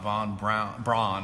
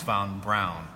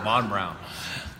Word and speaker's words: Von Braun: It's not Von Braun, it's Von Brown. Oh. Very good point. Von Brown.